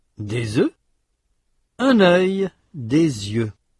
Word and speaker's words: œufs: Un œuf, des œufs, un œil, des yeux. Notez que dans ces mots, la consonne finale ou semi-voyelle final dans le cas de œil prononcé au singulier n'est pas prononcé au pluriel.